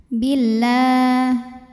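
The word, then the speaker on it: بالله: Lam jalalah dibunyikan secara tartik sebab huruf sebelumnya berbaris kasrah, maka bacanya tipis. La billah.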